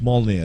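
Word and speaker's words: Mjölnir: one of those yeah it's mollier that's what it's called m-g-o-l oh yes that's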